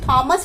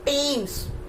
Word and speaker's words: Thames: आप इसे थॉमस पढ़ते होंगे, पक्का है कि आप इसे थॉमस ही पढ़ते होंगे, but here H is silent, H sound is not there.